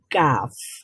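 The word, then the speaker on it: ك: জায়গাতে লেগে উচ্চারিত হবে কাফ। কাফ উচ্চারণ করেন তো, কাফ, কাফ, কাফ। কাফ, আর আরবিতে কাফ, কাফ উচ্চারণ করার সময় একটা বাতাস বের হবে মুখ থেকে, কাফ।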